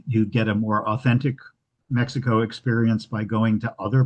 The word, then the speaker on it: Mexico: Please explain your pronunci uh Mexico with a with a KS sound. Um the Spanish pronunciation Mexico um and which is what um is the current pronunciation from from the locals.